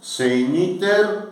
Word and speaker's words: segniter: final da página, são segniter, celeriter, diligenter, breviter, ferociter. Vamos ver se lembram o que significam. Segniter, João, significa o quê? Segniter, preguiçosamente. Segniter, GN se pronuncia NH, né? Segniter.